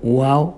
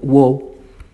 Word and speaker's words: Wao: Los Guaraní hablan su propio idioma, llamado Wao, pronunciado Wow.